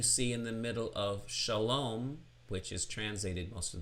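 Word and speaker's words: שלום: So we have the example of this is Shalom, Shalom, starting with an open syllable, Sha, your mouth stays open, just one consonant in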